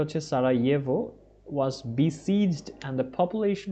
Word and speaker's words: Sarajevo: Okay, during the terrible civil war in Yugoslavia in the early 1990s, Sarajevo, এটার উচ্চারণটা হচ্ছে Sarajevo, was besieged and the population was continually under attack.